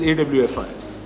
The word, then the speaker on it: Awfis: And when I went to the thesaurus, the pronunciation for OFFICE is AWFIS.